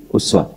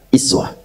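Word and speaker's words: أسوة: Ini pakai uswah. Tapi bisa juga dibaca dengan kasrah, iswah. Jadi bisa uswah, bisa iswah. Riwayat Qalun, Warash dari Nafi' itu dibacanya pakai i.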